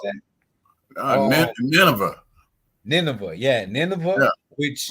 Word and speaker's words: Nineveh: yeah, He had Nineveh. How you yeah. pronounce that? Um, Nineveh.